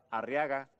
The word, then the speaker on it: Arriaga: Arriaga, que es un apellido vasco, es un apellido de origen vasco, también tiene el acento en la penúltima sílaba. Arria, sí. En ria, sí. ¿Verdad? Sí. Pero no lleva tilde.